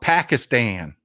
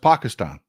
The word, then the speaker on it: Pakistan: They call it Pakistan. It's pronounced Pakistan.